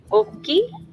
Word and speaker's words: Oki: Oki?